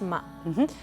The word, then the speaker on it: Ma: Et dis-moi, Ariane, Ma, parce qu'on le prononce Ma.